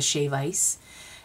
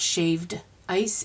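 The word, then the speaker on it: shave ice: had she's holding a shap ice and it's not shaved ice it's shave with no D on the end that's how it's pronounced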